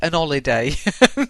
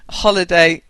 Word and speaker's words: holiday: H and that' be an holiday but holiday you pronounce the h so it's a holiday I advise you I